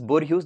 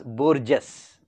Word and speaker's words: Borges: Now actual pronunciation is Borges, that's why I am telling like this, but further keeping in mind of the spelling, I would pronounce it as Borges, so that you will not make any spelling mistake.